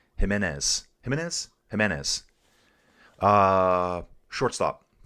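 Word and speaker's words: Giménez: Uh yeah, I'm going to say his name wrong. Andre Jimenez. I want to say Gimenez.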